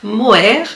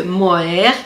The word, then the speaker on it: Moher: de tricot et crochet attention à ne pas confondre le mot avec le mot air donc muer à l'église ou les falaises de mohair ça s'écrit m o